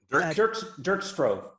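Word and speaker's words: Dirk Stroeve: But how do you say his name? Derek? Dirk Strove. Dirk. I really loved him.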